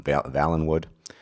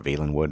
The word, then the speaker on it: Valenwood: an escaped criminal from valenwood or veilwood depending on how you wish to pronounce it in the case of